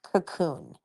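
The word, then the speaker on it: Kaqun: It's spelled very weird. K A Q U N. And it's pronounced cocoon.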